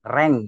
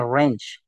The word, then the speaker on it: range: Di sini kita diminta untuk mengisi rentang, rank ya, range. Bahasa Inggris ini bacanya range.